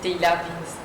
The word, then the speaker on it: Tehilla Vin's: Bonjour, c'est comme ça que j'ai bien prononcé. Oui, c'est Teila Vince.